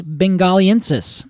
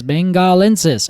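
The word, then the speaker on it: benghalensis: the um specifically Ficus bengaliensis there we go yes bengalensis I think it's not there I added an extra syllable as I want to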